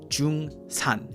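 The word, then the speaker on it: 중산: So when we went to Taipei, the place we stayed at was in an area called Jungsan. At least that's how you pronounce it in Korean.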